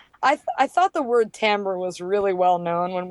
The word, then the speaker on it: Timbre: and often people pronounce Timber which is no problem if they're saying the name of our website we're happy but it's technically pronounced tamber but it's nonetheless spelled with an i and it's r e